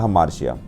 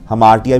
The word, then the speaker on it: hamartia: ठीक है जी, तो इसकी प्रोनाउंसिएशन जिहड़ी हैगी आ वो अलग अलग जिहड़े हैगे ने अपने अपने तरीके नाल उसनूं हमार्टिया भी बोल दिंदे आ, हमार्शिया भी बोल दिंदे आ।